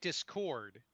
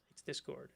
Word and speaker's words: Discord: it right this time you normally say discord description you stress the second syllable but you're saying i think you've been trying hardly it's discord and and it didn't